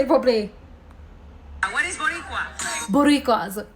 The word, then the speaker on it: Boricua: What is Boricua?